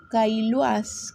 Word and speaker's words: Caillois: Roger Caillois, creo que se pronuncia así, Caillois se escribe, Caillois, el antropólogo